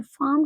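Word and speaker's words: farm: फास, फार्म, देखिए जो हमारा ये फार्म होता है इसको हम फार्म नहीं कहते हैं, फार्म कहते हैं, फार्म, आर साइलेंट है।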